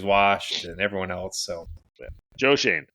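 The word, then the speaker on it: Joe Schoen: got obviously the Giants Joe Shane is how you pronounce his name yep that's the winner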